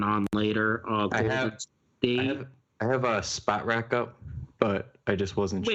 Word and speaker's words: Spotrac: Spot rack? No way. Isn't it like Sport Track? It is spelled out on my screen, SPOTRAC. Okay, I'm the one wrong then.